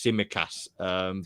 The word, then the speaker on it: Tsimikas: I'm not going to try to pronounce his name. I think it's Tsimikas.